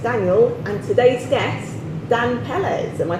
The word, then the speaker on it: Pelles: We're joined by my co-host, Daniel, and today's guest, Dan Pelles. Am I pronouncing that correct? Pelles, yeah.